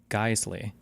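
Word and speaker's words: Geissele: Your AK is pronounced Guesley, but make sure to look into their controversies on mags.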